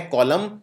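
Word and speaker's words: column: कॉलम के अंदर भी आखिर में एन आता है और इस एन का उच्चारण नहीं किया जाता है। तो यह है कॉलम और यह है ऑटम।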